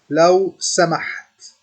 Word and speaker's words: لو سمحت: لو سمحت. It has the AH sound, the ha sound.